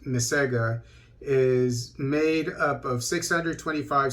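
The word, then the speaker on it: MICEGA: in the gambia uh m-i-c-e-g-a is probably pronounced mesega is made up of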